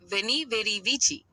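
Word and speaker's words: Veni, vidi, vici: The Latin phrase for I came, I saw, I conquered is Veni Vidi Vici. Here's how it's typically pronounced. Veni, V-E-H-Ni, like ve in vehicle.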